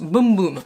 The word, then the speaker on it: Bum Bum: On nous dit « Here's the tea, it's pronounced boom boom ».